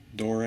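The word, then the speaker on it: Doré: Nice Barnes & Noble Classic Edition of the King James with Dore, I believe is how it's pronounced, Dore's illustrations.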